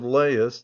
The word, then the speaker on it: Laius: The following do not appear in the play but are frequently mentioned:-- LAIUS (pronounced as three syllables, La-i-us), the last King of Thebes before Oedipus.